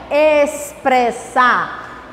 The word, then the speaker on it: expressar: Quando o X vem antes de P, som de S também. Expressar.